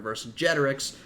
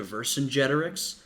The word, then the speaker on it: Vercingetorix: Though I think Vercingetorix is probably closer to an accurate pronunciation, at least if we're looking at a Roman pronunciation, because the C was pronounced as a hard C, a K, so it probably would have been Vercingetorix, and Caesar might have been